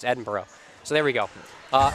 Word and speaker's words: Edinburgh: edinburgh oh boy oh my director corrects me and says it's edinburgh and she groans it's like warchester and lycester all over again i know as an american has just moved here the hardest part of all this stuff for me is figuring out how to pronounce these things these city names are strange i don't understand why edinburgh isn't just edinburgh but whatever it's edinboro so there we go